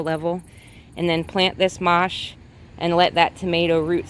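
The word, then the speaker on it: mâche: is also called mosh it's spelled m-a-c-h-e pronounced mosh and it's a low-growing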